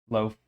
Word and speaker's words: lo-fi: Lo-fi. Yeah, okay. I figured it does rhyme with I, but yeah.